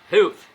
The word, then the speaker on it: Health: Health, eu não sei a pronúncia correta, tem que falar com a língua entre os dentes, né? Health.